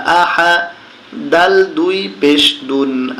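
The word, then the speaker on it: أحد: হামজা জবর আহা জবর হা আহা। দাল দুই পেশ দুন, আহাদুন।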